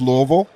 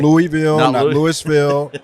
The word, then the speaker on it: Louisville: raised in Louisville Kentucky two syllables Louisville okay Louisville Louisville Kentucky I want to get